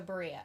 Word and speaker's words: Berea: was from it's cool Cleveland suburb rhymes with Maria oh okay so Berea okay okay okay okay